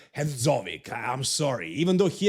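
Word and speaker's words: Hadžović: And in Sadik's case, it's actually Sadik, not Sadik, and his last name is Hadzovic, not Hadzovic.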